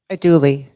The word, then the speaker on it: andouille: A dually. Yes. Yes. I'm Pronounce- Yay. Yes. Way Pronounce to, way to andouille.